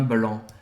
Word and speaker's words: blanc: No caso, você quer uma taça de vinho branco, un verre de vin blanc. Un verre de vin blanc. Você não vai pronunciar o C no final.